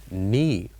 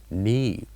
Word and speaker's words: knee: And in this word we have one silent letter, which is K. And in this case, we write K, but we don't pronounce it. We say knee, knee. And next we have the